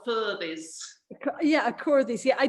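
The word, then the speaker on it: Aquhorthies: Well, it's written a Quarthys and it's pronounced a Furthys.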